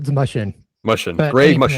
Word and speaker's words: Mushen: Yeah, it's Mushen. Mushen. But Greg any Mushen.